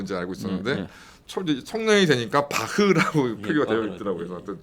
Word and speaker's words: 바흐: 그때 요한 세바스찬 바하라 했지. 네. 바흐라 안 했거든요. 네네네. 근데 독일어로 BACH면 허 발음이 맞죠.